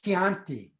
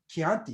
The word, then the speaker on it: Chianti: a little bit different i say chianti chianti you can't say chianti it's that's not the way to say it um we've got a